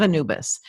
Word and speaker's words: Anubis: and Mandy, the House of, how do you pronounce that? House of Anubis. House of Anubis.